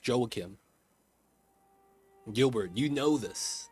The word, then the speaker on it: Joakim: So, his name, his first name is pronounced Joakim.